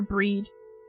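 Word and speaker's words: Bríd: Pronounced with a long E, similar to the English word for breed. Oh, okay. Why does Bridget shorten to breed, though? That's English bastardization of Irish language, you know? The final D is like the D in Bridget, almost like a J sound. Also, there's a fada on the I.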